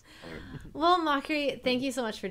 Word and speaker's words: Mochrie: drill into people's minds it's pronounced mockery not mochi I thought it was